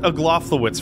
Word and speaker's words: Aglaophotis: It's Aglaophotis. It's actually pronounced Aglaophotis for some reason.